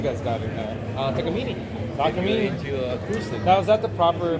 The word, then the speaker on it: Takamine: what else you guys got here now uh take a meeting now is that the proper pronunciation that's what I always thought Takamine yeah it's Japanese one of the only really